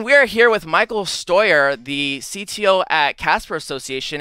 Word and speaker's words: Steuer: for so long uh very very German stoer is your last name which actually I was